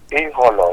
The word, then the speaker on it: Eholor: You don't pronounce it with E. It's Eholor, you know?